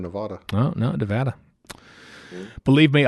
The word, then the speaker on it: Nevada: No, it is Nevada. Nevada, not Nevada. Nevada. Yeah. Oh, I said Nevada.